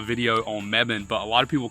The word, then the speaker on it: Mebane: I know this is not a video on Mebane but a lot of people call Mebane and